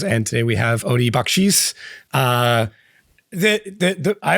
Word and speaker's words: Bakchis: I've noticed when you're saying it, you're like bakis, which I believe is I would hope is the correct pronunciation of it.